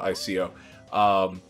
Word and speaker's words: Ico: we write it out I C O. Their I sound gets the I. sound. Yeah. So it's they pronounce it Ico. Ico. Or no, their I gets the E sound.